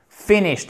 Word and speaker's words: finished: peindre et les nattes finished finished accent tonique sur la première syllabe aucun et 19 finished